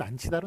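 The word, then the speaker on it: 앉히다: 뭐 발음은 안치다로 납니다. 지읒이 뒤로 넘어가서 축약이 벌어지니까 안치다로 납니다만 어쨌든 쓰는 것 안히다 이렇게 적어준다는 것 기억해 주시기 바랍니다.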